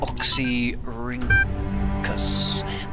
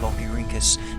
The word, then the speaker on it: Oxyrhynchus: How do we pronounce this word? Oxyrhynchus.